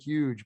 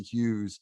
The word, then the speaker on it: Hughes: But it sounds like Hues.